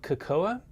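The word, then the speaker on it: Kekoa: don't there is a brand called kakoa k-e-k-o-a i think is how you pronounce it you can find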